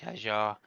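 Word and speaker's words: Hadjar: Max Vstappen pushing up the rear with 43 and then his teammate uh Isaac Hajar as it's correctly pronounced uh 29.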